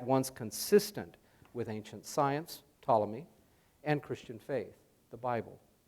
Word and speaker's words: Ptolemy: the ancient Greek scientists Ptolemy spelled with a p right and by theologians